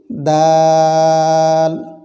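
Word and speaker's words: دال: এরপরে আসুন তারপরে হরফ দাল, 4 লিপ পরিমাণ লম্বা করে এটি উচ্চারণ করতে হয়, টেনে উচ্চারণ করতে হয়। দাল, এটি সাদৃশ্য কিছু হরফ রয়েছে, তবে এটি উচ্চারণ হয় জিহ্বার আগা সামনের উপরে 2 দাঁতের আগার সঙ্গে লাগিয়ে। দাল।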